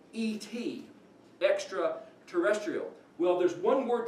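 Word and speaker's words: את: The Aleph is silent, but by default you give us this is et, because you can't just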